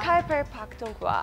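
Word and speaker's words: Khyber Pakhtunkhwa: Kaiser Pakhtunkhwa. I don't know whether I pronounced yes, it in a correct way.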